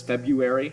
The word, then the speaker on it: February: The way that we pronounce February oftentimes comes off as February, and people drop that first R right in there.